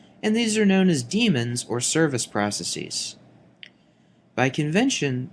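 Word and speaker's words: daemon: in the modern spelling however the pronunciation is the same damon is incorrect even though many people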